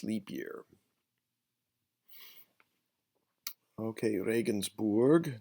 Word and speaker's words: Regensburg: Okay, Regensburg. Notice the URG, Regensburg.